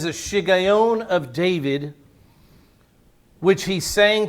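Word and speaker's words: Shiggaion: bibles may not say shigeon it may say um anybody have a different word uh a meditation yeah some bibles say meditation the hebrew word there is shigayon and so many of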